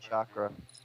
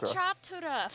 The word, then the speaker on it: Chotara: Because it sounded like you said Chakra. Well done. Sound like you said Chakra. I say Chotara for a reason. I put extra emphasis on the T. That extra syllable.